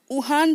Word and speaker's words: Juan: यहाँ पर वुहान की जो स्पेलिंग है बेटा वो JUAN है ना। तो लेकिन उसे वुहान प्रोनाउंस करेंगे।